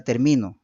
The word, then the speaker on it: termino: Por eso es que la acentuación viene en la segunda sílaba y en el tercer terminó viene en la tercera, ¿no es cierto?